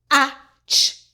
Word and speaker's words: catch: The T is silent. Catch catch.